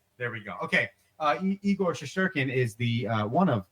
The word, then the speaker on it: Shesterkin: It's Russian, so I'll give you the first 3 letters, and then I will pronounce it slowly for you. yeah. SHE, and it's Shesterkin.